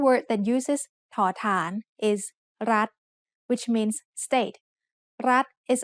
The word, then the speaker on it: รัฐ: We pronounce รัฐ with a high tone because of the rule low-class consonant with a dead ending and short vowel makes high tone.